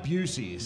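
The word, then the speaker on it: Buc-ee's: Yeah, it is Bucky's. Dude, I got a problem. I buy a lot of Bucky's. You buy a lot of Bucky's, huh? It's pronounced Busey's.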